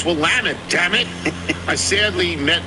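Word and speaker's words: Willamette: I heard a group of JMU fans debating how to pronounce Wamtt, at which point I I pronounce it's Wamut.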